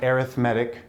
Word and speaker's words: arithmetic: And when you change the accent on the word arithmetic, it becomes an adjective, and it describes this sequence.